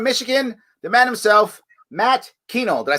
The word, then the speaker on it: Kuehnel: In Warren, Michigan, the man himself, Matt Kuehnel.